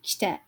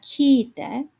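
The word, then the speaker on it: 来て: So notice this is kite. This is not kitte, and it's not kiite. So you do want to be a little cautious about your pronunciation.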